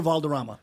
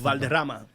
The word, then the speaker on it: Valderrama: Wilmer Valderrama. How do you pronounce it with the Spanish accent? Valderrama.